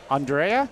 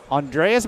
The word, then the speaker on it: Andrea: Andrea, yes. Andrea. Say it again. Andrea Andrea.